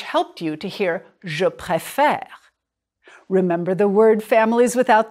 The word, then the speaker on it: préfère: Je préfère. It's the accent change that opens up the second E.